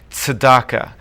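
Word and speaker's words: tzedakah: and it's also got one of those Hebrew sounds that we don't have in English so it's Sedaka with that TZ sound at the beginning it's a tough one uh and again similar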